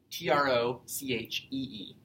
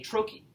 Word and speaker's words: trochee: T-R-O-C-H-E-E. A trochee is a 2-syllable foot, with the first syllable being stressed and the second one being unstressed.